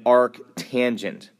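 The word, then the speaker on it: arctangent: The way these are pronounced are arc s arc cosine all one word and arc tangent.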